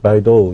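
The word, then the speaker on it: 北斗: 중국 사람들은 바이도 이렇게 발음을 하죠.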